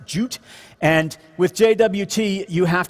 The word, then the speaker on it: JWT: stands for right now and i think it's pronounced jute and with jwt you have to store things